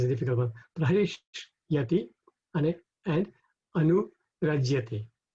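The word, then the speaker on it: अनुरज्यते: So if we pronounce this separately, we would be prahishyati, prahishvati, and Anurajyate. But when we rhyme it, then the Y and the A go together, and then it becomes prahishatya nurajyate, like that.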